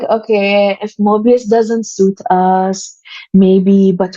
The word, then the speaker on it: Mobius: And it gets mispronounced all the time. And really? Just, yeah, we're called Morpheus, Mobius.